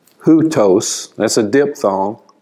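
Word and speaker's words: οὗτος: accent mark, and then that thing that looks like a comma is a rough breathing mark. That means like you put an H in front of it. Hutos, that's a diphthong. Hutos is a personal pronoun.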